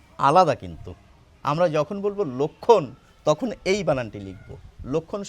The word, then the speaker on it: লক্ষ্মণ: ক খওকার ন লক্ষণ আর রামের ভাইয়ের উচ্চারণ হচ্ছে লক্ষণ এই ল এর সঙ্গে ওকার আসবে না এখন কি কিছু মানুষ